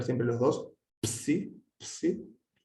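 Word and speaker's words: ψ: Siempre a pronunciar los dos elementos, no como en español que solemos decir psicología, hay que pronunciar siempre los dos, psi, psi.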